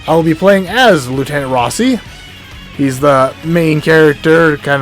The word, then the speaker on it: Rossi: It's spelled Rosie without the E, so it's really hard. I always thought his name was Rosie, but apparently it's not. I tried looking up, it's like Rossi.